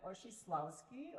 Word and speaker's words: Oshislawski: Hello, my name is Oshislawski, otherwise known as, because nobody can pronounce that.